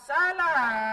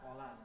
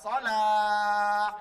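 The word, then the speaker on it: صلاة: Ada orang azan, hayya 'alas salah, misalnya, kan memang salah. hayya 'alas salah. Semestinya hayya 'alas Sholat. hayya 'alas shalah misalnya.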